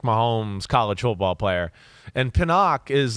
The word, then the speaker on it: Penix: And Pinnock is like, am I saying it right? Penix. Yep.